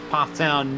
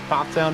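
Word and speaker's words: Pfafftown: The driver out of Pofftown, North Carolina. Yes, that is how it is pronounced for those who are unaware. There are a lot of F's there. It can trip you up, but Pofftown is the way.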